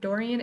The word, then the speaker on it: Dorian: Dorian, is that how you say it?